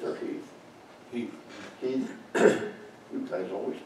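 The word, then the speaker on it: Heth: Hill sends General Henry, how do you pronounce it, Heath or Heath? Heath. Heath. You guys always pronounce things silly.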